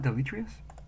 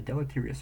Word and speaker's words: deleterious: I know this word I don't how to pronounce it deletrius it is deletrius oh D delerious delerious delerious delus it's not deletrius well damn Del religion has had a deleterious effect on societies has been used in the